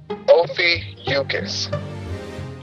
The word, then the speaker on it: Ophiuchus: First things first, the headlining constellation causing all the media buzz is pronounced Ophiuchus.